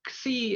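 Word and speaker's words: Ξ: Now, Xi is pronounced as a KS sound, such as the X in English, such as the X in fox or box or socks or fix or taxi, and not as in boss or loss.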